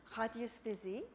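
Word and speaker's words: radiesthésie: It's actually a French word, radiesthesie, which comes from the Latin radius, which means radiations, the Greek word aesthesis, which means sensation.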